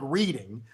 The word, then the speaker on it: Reading: the Reading Terminal Market it's spelled like reading but it's the Reading Terminal Market think of the Seattle